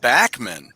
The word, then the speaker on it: Bachman: pete bachmann not well he pronounces it backman really yeah that's gonna